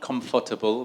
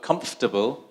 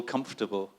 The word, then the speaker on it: comfortable: second syllable right uh this one comfortable yeah not comfortable but comfortable like like vegetable right vegetable comfortable um what's this funny